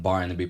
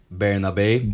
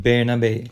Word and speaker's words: Bernabé: on the right and Barnaby playing behind. Apparently, we're mispronouncing it. A guy on YouTube told us. It's Barnaby or something.